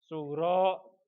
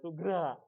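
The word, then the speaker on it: sughro: Oke, itu yang dinamakan kiamat sugro. Apa, Anggro? Sugro, bukan sugra, ya. Sugro.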